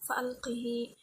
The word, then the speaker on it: فألقه: fa'alqih di surah An-Naml, membacanya dengan mengkasrahkan huruf ha serta menyambungnya dengan ya lafziyah pada 3 tempat tersebut. Arjih menjadi arjihi, fa'alqih menjadi fa'alqihi.